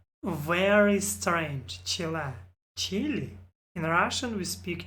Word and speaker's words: Chile: and speaking of spanish i used to pronounce this chile and i think most people in british have since evolved my pronunciation because of this one well it's chile because it's the place chile it actually sounds